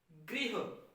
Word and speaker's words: गृह: हम इसे भी ग्रह बोल देते हैं। जैसे बोलते हैं गृह कार्य, हम कहते हैं ग्रह कार्य। कहना चाहिए गृह, ये ऋषि की मात्रा है, गृह। उसी प्रकार गृह मंत्री, गृह मंत्री। ज्यादातर उच्चारण क्या होता है? गृह मंत्री। उच्चारण सही होना चाहिए गृह मंत्री, गृह कार्य।